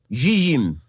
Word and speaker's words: Zzyym: The recipient is Colorado resident Dana Zizim. Okay, the reason I pronounce it that way is because the last name is spelled Zzyym.